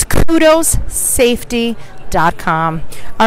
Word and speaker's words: Qdos: gotta check them out go to kudos calm and it's spelled a little unusually so don't get nervous and we tagged them in this feed right now it's QD o s so also its kudos